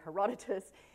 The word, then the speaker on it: Herodotus: greeks how do you say this name herodotus hierodotis thank you thank you bobby herodotus who is the father of modern geography they